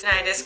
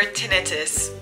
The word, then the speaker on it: tinnitus: Tinnitus or tinnitus, whichever way you want to pronounce it. I've heard it both ways. I've heard doctors say it both ways.